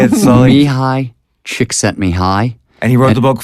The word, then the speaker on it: Csikszentmihalyi: Mihai Csikszentmihalyi.